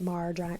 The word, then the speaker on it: Maher: Some of you have very strong opinions about Mr. Maher, rhymes with jar, but I like him.